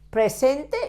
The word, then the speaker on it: presente: You have to pronounce the last E. In Spanish, we always pronounce all vowels.